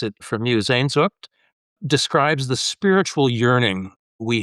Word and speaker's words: Sehnsucht: And you shared with me that one of your favorite German words is Sehnsucht.